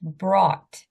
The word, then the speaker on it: brought: here this is pronounced brought BR brought BR okay can everyone um say this word out loud BR Brad broad okay you see the G here you don't say the g sound uh it's it's a